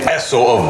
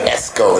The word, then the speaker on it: Esso: Cuz they always be like Esco that Why they do that? Because of N or dyslexia. Everybody says spelled E S S O dollar sign.